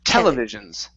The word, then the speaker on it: televisions: instead of televisions okay the stresses at the very beginning televisions televisions there you go